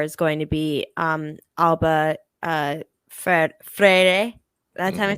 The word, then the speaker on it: Freire: I think the back four is going to be Alba, Freire.